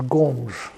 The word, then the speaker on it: Gomes: That is by the way that's a Portuguese name and you know the in Spanish it's Gomez. In Portuguese it's Gomes.